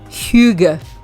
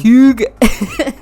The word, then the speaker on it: hygge: Para que la quiero pronunciar bien porque... Hygge. ¿Conoces? ¿Estás haciendo arcadas? Está bien. Te cayó algo mal. Hygge.